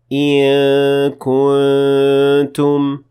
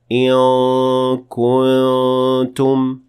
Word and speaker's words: إن كنتم: And further, in this ayah, we say إِن كُنتُم with two cases of إخفاء between the noon and kaf and between the noon and ta. So it would be wrong to say it in full mouth and say إِن كُنتُم, and it doesn't sound right either.